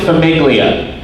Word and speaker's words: Famiglia: I don't know why they Where they actually pronounce it Famiglia.